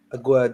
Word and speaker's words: Aguerd: Aguerd, is that how you say his name? Aguerd, yes.